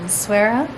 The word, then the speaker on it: Essaouira: This is our last night in Essaouira, which I found out is the correct way to say it after asking our friend today.